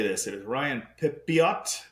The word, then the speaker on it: Pepiot: It is Ryan Pepiot. Pepio. Very French of him, Pepio. Ryan Pepio.